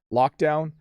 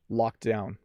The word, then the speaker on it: locked down: down and locked down so i over pronounced the second one let me say it at my normal speed lock down lock down so you hardly hear the d in fact i don't